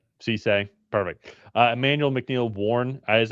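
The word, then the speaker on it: Cisse: Cece.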